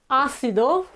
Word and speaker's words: ácido: And Ácido, you will recognize this word is acid. Okay, so ácido, ácido, and we have the th sound.